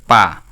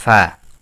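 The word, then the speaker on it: ف: হবে না এটা যদি কেউ বলে পা এটা ভুল পা নয় নয় এটা হবে ফা ফা ফা ফা ফা এক আলিফ টান হবে ফা এক আলিফ টান হবে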